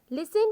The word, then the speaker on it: listen: Listen to your teachers carefully. Listen means सुने. Listen, सुने. T is silent here.